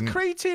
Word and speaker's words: cretin: Yeah, cretin. Is cretin how it's said in America? Isn't that cretin? Yeah, cretin. Cretin, is it really?